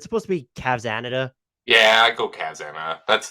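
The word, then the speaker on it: Cavsanada: me up am I supposed to like I pronounce it Cavs and natas it's supposed to be cavsanita yeah I go Kazama that's that's usually how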